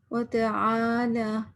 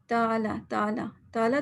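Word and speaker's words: وتعالى: وتعالی، آئین کو واضح کرنا ہے. یوزلی ہم کیا کہتے ہیں، تالا تو نہیں ہے نا.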